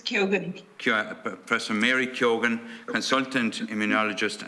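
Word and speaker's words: Keogan: Is that pronounced correctly? Is it Kyogan or Kyogan? It's Kyogan.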